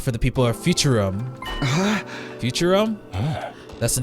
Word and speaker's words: Futurum: Futurum.